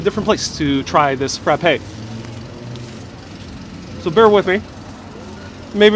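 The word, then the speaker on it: frappé: You can have a frappe with the accent on the E.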